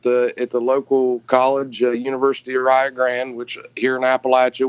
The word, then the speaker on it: Rio Grande: which here in Appalachia, we wanted to take Rio Grande and pronounce it our own way. So that's how it's spelled, and for some reason we call it Rio Grande.